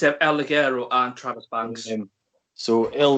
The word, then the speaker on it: El Ligero: How do you pronounce his name? It's El Ligero and Travis Banks.